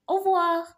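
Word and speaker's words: au revoir: say goodbye okay so in goodbye you say avoir so repeat after me of War yes you said it right as well you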